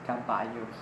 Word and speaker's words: caballo: Yama Yama yah yah and caballo instead of saying about you w16 we have to say caballo you can see me